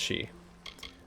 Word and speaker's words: Sidhe: It can be pretty exhausting out there in the Sidhe. She. Okay, yeah, it's just pronounced she.